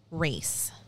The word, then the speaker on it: Racz: Race is her married name. It's R-A-C-Z. And I'm like 99.999% that it's pronounced race. Like you're going to. That makes sense. You're going to race. Yeah.